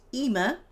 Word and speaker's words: Ima: And Ima is mother in Hebrew and Arabic. It's sometimes spelled Ima. In this book, it's spelled Imma. And it's pronounced Ima.